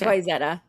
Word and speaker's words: Wayzata: It's Wayzata. We should have a Minnesota name day where I have you guys pronounce names from here.